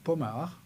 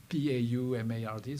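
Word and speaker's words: Paumard: my last name is pomar Pau Marg so that's a French name so it's really where to pronounce it in that way and I have causes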